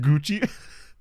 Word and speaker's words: Gauci: Yeah, it's pronounced Gucci.